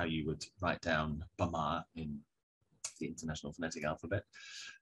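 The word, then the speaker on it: ဗမာ: you would write down bama in the international phonetic alphabet um and the stress you'll hear is on the second syllable and when in english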